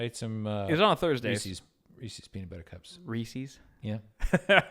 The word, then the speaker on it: Reese's: information my mind says it has to be Reese's because Reese's rhymes with pieces that's that's pretty logical